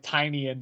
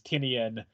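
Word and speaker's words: Tynion: is his imprint and Tiny onion sounds much more like tinan than it does tinian so I think i' I may have just been mispronouncing that the entire time so I'm just GNA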